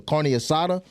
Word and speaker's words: carne asada: The I'm saying it wrong. The carne asada.